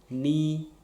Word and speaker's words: knee: And this K also happens silent in no, KNOW, knee, KNEE, knit, KNIT.